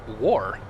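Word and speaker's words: Wagaugh: War. It's spelled W-A-G-A-U-G-H, but it's pronounced War.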